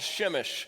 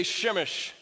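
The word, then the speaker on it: Przemyśl: little city uh called shimish everybody say shimish it's kind of fun to say isn't it shimish it's not it doesn't it's spelled like p-r-z-e-m-y-l-s shimish yeah that makes sense um anyway the whole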